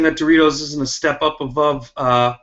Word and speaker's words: Doritos: point in the fight Goldie was pronouncing the popular snack Doritos as door retos constantly not saying that Doritos isn't a step up